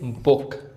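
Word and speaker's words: book: अब इसको कभी-कभी हम उ भी पढ़ते हैं। जैसे बुक, लुक, कुक, foot, good.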